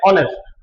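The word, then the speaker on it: honest: कैसे पढ़ा जाता है एच जो है वो साइलेंट रहता है जिस प्रकार को प्रोनाउंसिएशन रहता है ऑनेस्ट जैसे कि इसका यूनिवर्स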